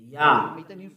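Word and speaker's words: יה: Yah. According to the Hebrew, when you see this word, it is read Yah in Hebrew. I tell again, Yod and He is read Yah. We read it Yah, Yod and He.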